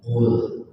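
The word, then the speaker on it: قل: Qul. Kalau bahasa Indonesia ini garis rumah dan ada nyambung adalah hurufnya lam l, lamnya sukun jadi dibacanya pul, pakai t di pangkal lidah pul.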